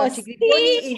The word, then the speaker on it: Cocci Grifoni: Oh, Cocci Griffoni is my family name. Marilena is my baptized name. Yes. So, and just a little bit of information about Cocci Griffoni and Maria Elena.